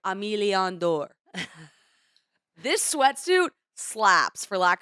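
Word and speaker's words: Aimé Leon Dore: phenomenal sweatsuit it's by amy leon door i i butchered it i think it's it's more pronounced like emiliandor this sweatsuit slaps for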